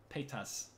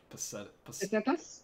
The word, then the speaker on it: pesetas: How do you say that Resident Evil 4 money? I always say petas. I want to say pesetas. Pesetas? Pescadas. It's pesetas. Peschetti. Oh, pesetas? Is that how you say it?